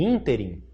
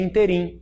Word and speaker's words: ínterim: Pode cair ínterim e ele achar que é interim e não acentuar.